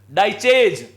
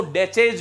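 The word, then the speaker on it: Daiches: और ये बात कह रहे हैं डेविड डाइचेज, जिसको डेचेज भी कहीं कहीं लिखा गया है जो कि गलत है। प्रोनाउंसिएशन के हिसाब से देखते हैं तो वो डाइचेज है।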